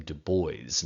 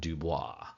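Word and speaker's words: Du Bois: I'm saying it wrong he pronounced his last name Deo not Dubois so Deo he is a little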